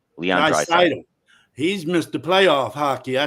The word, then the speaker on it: Draisaitl: Draisaitl. Leon Draisaitl.